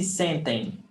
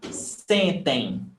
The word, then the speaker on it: sentem: No. This is pronounced em, sem, and this is pronounced em, tem, sentem. So you see, sentem, sentem.